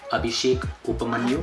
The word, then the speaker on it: Abhishek Upmanyu: How do you pronounce it? Abhishek Upmanyu.